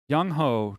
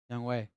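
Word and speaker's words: Younghoe: so real quick uh timeout two years 4.5 young hoe 24 mil well young way is a better kicker than zane it's young ho i have young home but it's pronounced young way oh you should put a w in there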